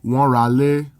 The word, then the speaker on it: wọ́n ra ilé: Note that in speech, this is pronounced like, wọ́n ra lé, because when a word ending in a vowel is followed by a word that begins with a vowel, they blend together.